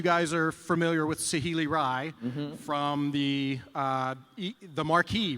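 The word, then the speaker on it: Rai: yes you can remember you can remember Ry because it's pronounced exactly like the drink for those under 18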